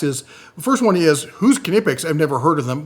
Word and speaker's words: Knipex: kex your choice however either way you got to pronounce the k but let's talk about where these guys come from all right so kipic was founded in 1882